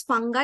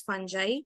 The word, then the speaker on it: fungi: So there is fungi and there is fungi. Both are different. One is, American pronunciation and one is British. So we can use both.